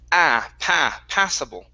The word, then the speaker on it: passable: Next up is the word passable instead of possible. It's passable. Passable.